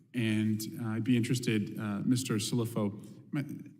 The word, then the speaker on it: Cilluffo: Cilluffo, pronounce that for me again? Cilluffo.